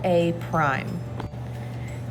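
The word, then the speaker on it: A′: This is called A prime, and B prime, and C prime. So that little apostrophe there is actually pronounced as the word prime.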